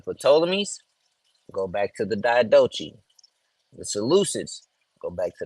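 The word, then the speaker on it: Diadochi: go back to the DOI the soluset go back to the DOI or some people like to pronounce the diai right it just means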